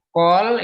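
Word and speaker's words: כל: Call itu seluruh atau semua. Ini bacanya call ya, seluruh atau semua.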